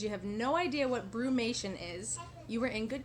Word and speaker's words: brumation: What is brumation? Brumation, not bromation. What is brumation and what isn't it? It's not bromation. That is not how you pronounce it.